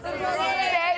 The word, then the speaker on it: Rosé: Rosé. It's like Jose.